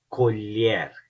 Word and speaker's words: colher: Primeiro, LH. Lha, lha, lha. Então, colher, colher, colher. Mulher, mulher, mulher.